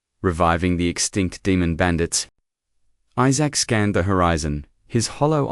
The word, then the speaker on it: Isaac: It's Isaac, not E- The pronunciation was close, but his human pride remained stubborn.